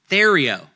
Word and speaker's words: Theriot: Thério. Like Theriot. You know it's Cajun when there's like silent letters everywhere.